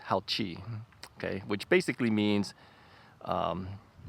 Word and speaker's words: Haoqi: do you guys call it and they said howchi yeah um so yeah uh they they wrote it in Chinese I gave it to my sister-in-law and I asked her how do you pronounce it she says howchi okay which basically means um good ride or